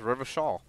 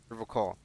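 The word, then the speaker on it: Revachol: to stay strong for river coal river call you pronounce it that was river shawl um his gaze shifts to the pile of soggy logs at this oh yeah yeah he pronounces rivershaw with a hurricane like other people yeah see like i picked that up too the river call i like to pronounce it the hard way the old way the oh [ __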